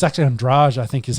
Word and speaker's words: Andrade: So you've got the Bullet taking on Andrade.